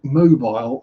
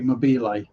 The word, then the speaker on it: Mobile: And Mobile, Alabama. Actually, Alabama, that would be French as well, so it would be Mobile, will be the correct pronunciation of that, not mobile.